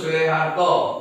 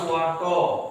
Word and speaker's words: Soeharto: Contoh, Soekarno itu terus Soeharto. Perhatikan ejaan, ya. Yang ada o, u, dia jadi e, o dengan e. Bacanya su, ya. Ngerti nak? Jadi kalau ketemu, kenapa Pak? Seperti Pak Soeharto, Pak Soekarno itu dibaca dengan Soekarno, padahal Soeharto